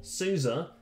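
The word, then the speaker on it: SUSE: void linux honestly uh suzy linux or souza if you want to pronounce it correctly uh this goes in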